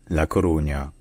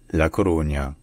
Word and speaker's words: La Coruña: So first in Spanish, it's called La Coruña. La Coruña. And then in Galician is pronounced A Coruña.